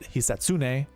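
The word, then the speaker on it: Hisatsune: Uh I know you pronounce it. Heatsune, but if you say it fast enough, it sounds like the assassin.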